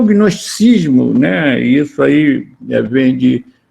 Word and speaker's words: gnosticismo: Aliás, esse G nem seria pronunciado, é o gnosticismo, né?